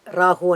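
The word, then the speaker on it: राहु: Randall, for Rahu and Ketu. Rahu, Ketu. Rahu. Rahu. That's a correct pronunciation. Okay. Ra, it's a dirgha letter, what we call the long letter.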